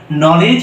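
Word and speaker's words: knowledge: পারি সেটা হলো যে শব্দের শুরুতে যদি কে এন আসে তাহলে সেখানে কে টা সাইলেন্ট থাকবে এন টা উচ্চারণ করা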